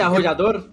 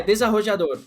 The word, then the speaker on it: desarrollador: É, desde arrodador. Eu tô com essa arrodadora muito guardada aqui. É porque eu sei como eu falo, mas eu não sei pronunciar. É desarrollador.